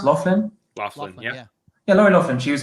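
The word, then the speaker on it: Loughlin: like you know what lori laughlin is that's pronounced laughlin yeah yeah lauren often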